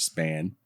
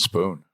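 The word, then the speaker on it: Spahn: It's spelled like that, but it's pronounced Spoon.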